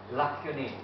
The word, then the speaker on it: lacunae: Lacunae, Roy, that's the correct pronunciation? Lacunae.